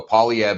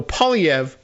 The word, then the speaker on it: Poilievre: no one says it that way here so pev is fine I I'm I'm easy with first